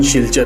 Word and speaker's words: Silchar: सिलचर, जिसका स्थानीय उच्चारण शिलचर है, यह असम राज्य के